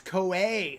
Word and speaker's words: Koei: It's Koei. Okay, Koei. Okay, gotcha. Thanks, Old Crow. I always mispronounce that name.